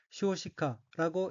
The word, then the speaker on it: 少子化: 우선 빨간색 줄친 부분을 보면 첫째 줄 왼쪽의 어휘는 한자가 한국어로 소자화이고 각기 적을소, 아들자, 될화가 들어있고 일본어로는 쇼시카라고 읽으며 쇼시카는 저출산으로 인한 자녀수 감소, 아동인구 감소라는 뜻입니다.